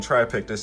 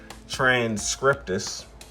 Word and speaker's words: transcriptus: I'm probably still saying it wrong but at first I was saying um Julia Chromis Julia the chromis triictus I was saying try this in instead of transcriptus.